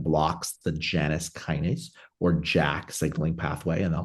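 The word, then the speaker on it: JAK: and we decided to focus on the topical Jack inhibitor a jack inhibitor spelled j AK Jack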